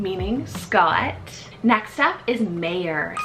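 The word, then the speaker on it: Meir: Scottish rooted name meaning Scott next up is Mayor spell m-e-i-r mayor this one is the original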